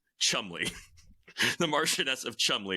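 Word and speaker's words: Cholmondeley: in you know typically entertaining fashion it's actually pronounced Chumley the Martian of Chum spelled like shimay um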